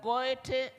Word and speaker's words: Goethe: The Goethe Zentrum, this OE is pronounced like an Ö. Goethe Zentrum.